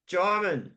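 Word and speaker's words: Djimon: It's It's pronounced Gim like Simon. Gimon.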